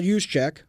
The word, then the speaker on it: Juszczyk: Fullback Kyle Juszczyk, is that how you pronounce it? Juszczyk, said he assumed the 49ers asked to receive